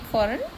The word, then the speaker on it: foreign: Okay, when we speak foreign, then G is silent.